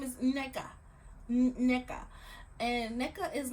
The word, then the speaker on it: Nneka: Girl, no, tell them this is how you say your name. Not Nneka, Nneka.